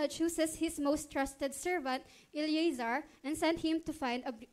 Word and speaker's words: Eliezer: Kasi iba yung word, bigkas sa Eleazar, E-A yun, Eleazar. Pag Eliezer.